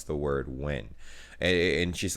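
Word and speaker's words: Nguyen: it up so yeah it's definitely pronounced win whenever you see the letters like that it's just when yeah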